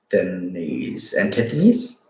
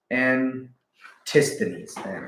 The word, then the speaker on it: Antisthenes: Antithenes? I guess that's a quote. That's fucking awesome. Oh, the guy? No, I don't know who the hell that is. Pronounce it. Antisthenes.